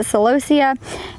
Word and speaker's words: celosia: So I kind of did on the back half is all of our celosia, some pronounce it celosia, and then kind of upward we have all of our grasses.